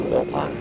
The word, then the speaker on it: Philpott: Pronounce that Pale Pot or Pale Pot or Pale Pot? It's supposed to be Pale Pot.